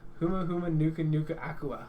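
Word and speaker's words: humuhumunukunukuāpuaʻa: Huma Huma Nuka Nuka Aqua.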